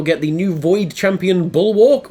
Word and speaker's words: Bulwark: the new Void Champion Bulwark, or Bullock, as I feel like it should be pronounced, 50 gems, an XP booster, 3 energy refills, and an Ancient Shard.